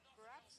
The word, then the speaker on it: Barats: Wait, Barats rhymes with? Strats, right?